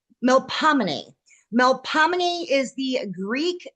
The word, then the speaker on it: Melpomene: It's melomin.